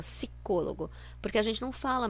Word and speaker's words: psicólogo: muitos jornais e revistas sem o p sico logo a gente fala se cologo porque a gente não